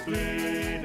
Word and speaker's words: Blidworth: For in Oldham the locals say Upham, to the natives of Blidworth it's Blid.